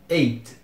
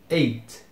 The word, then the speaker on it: eight: pulasse pro t e Eight Eight eight novamente Como eu disse vou pegar muito no pé não pesem demais o t que ele também é bem silencioso é Eight seguindo número